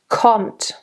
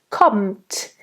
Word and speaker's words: kommt: Kommt. Kommt. Again, very nice hard t.